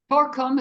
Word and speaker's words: Torkom: Torkom is Torkom. Torkom. then the last name, how how does it pronounce?